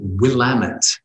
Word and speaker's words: Willamette: humphreys carla the conference in portland is called willamette that's how you pronounce it but it's spelt willam w-i-l-l-a-m-e-t-t-e the willamette writers conference um uh yeah so